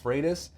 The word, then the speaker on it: Freitas: your name i said look it's pronounced freitas but my drill sergeant taught me to respond to anything remotely close so why is virginia